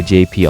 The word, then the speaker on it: JP: In Spanish, J is pronounced as Jota/Jota, and P is pronounced as Pay or P. So my Spanish teacher always keeps calling me Hotape in class instead of my real nickname JP.